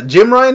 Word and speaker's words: Jim Ryan: Or, yeah, Jim Ryan, did I say his name right this time?